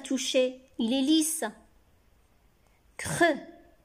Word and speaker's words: creux: Creux. On ne prononce pas X ici à la fin de creux.